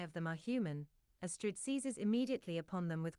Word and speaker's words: Astrid: It's Astrid. But, Astrid, when you're talking to Astrid, you would say Astrid. Astrid, like pastry.